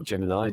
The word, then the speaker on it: Gemini: the two person spacecraft called Germany or Gemini depending on how you pronounce it um U tried